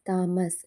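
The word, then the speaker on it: Thomas: ಆಗಿ G silent ಆಗಿದೆ ಹೆಚ್ silent ಆಗಿರುವಂತ ಪದಗಳು ಹಚ್ ಓ ಎನ್ ಓ ಯು are honour ಹಚ್ ಓ ಯು ಆರ್ ಅವರ್ ಟಿ ಹಚ್ ಓ ಎಂಎ ಎಸ್ ಥಾಮಸ್ ಹಾನರ್ ಅಂತಂದ್ರೆ ಗೌರವ ಆವರ್ ಗಂಟೆ ಥಾಮಸ್ ಇದು ಒಂದು ವ್ಯಕ್ತಿಯ ಹೆಸರು ಇದಿಷ್ಟರಲ್ಲಿ ಕಾಮನ್ ಆಗಿ ಹೆಚ್ ಸೈಲೆಂಟ್ ಆಗಿದೆ ಇದೇ ರೀತಿ ಇನ್ನು ಅನೇಕ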